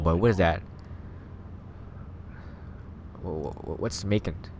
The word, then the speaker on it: Macon: What's Macon? It rhymes with bacon.